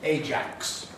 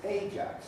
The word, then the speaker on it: Ajax: when you realize that the elizabethan pronunciation of ajax was the jake's stress there the jakes usually then something